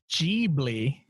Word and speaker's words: Ghibli: cool you say Ghibli even though Ghibli is an Italian word it is said G bleah in Japanese that's how Miyazaki says it so interesting I haven't